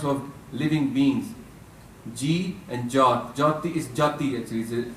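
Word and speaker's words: ਜਾਤਿ: Ji and Jat. Jati is Jati actually. It's a Sehari, but you don't pronounce it.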